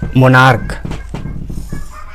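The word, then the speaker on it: monarch: For example मोनार्क, यह है मोनार्क, महाराजा।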